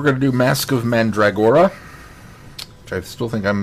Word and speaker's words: Mandragora: to do mask of mandragora which I still think I'm mispronouncing that one and um I think you're emphasizing or too much but you're got the pronunciation close okay mandrag mandrag mandragora mandora